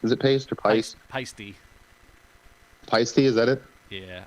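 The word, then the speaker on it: Paiste: Paste? Is it paste or pice? Peisty.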